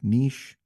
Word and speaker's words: niche: There are two common pronunciations, both of which are currently considered correct. Niche rhymes with sheesh, and niche rhymes with pitch. Niche is the more common one and the older of the two pronunciations.